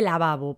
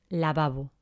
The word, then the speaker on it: lavabo: suenan prácticamente igual no lavabo cuál es la diferencia entre la primera y la segunda ninguna lavabo no decimos lavabo decimos lavabo así que en este caso